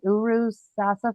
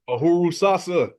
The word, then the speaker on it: Uhuru Sasa: Is it Uru? Uru? Uhuru? The farms, Uru Sasa Farms? Oh, Uhuru Sasa.